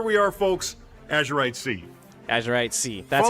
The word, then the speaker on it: Azurite Sea: Azurite Sea. That's how it's pronounced.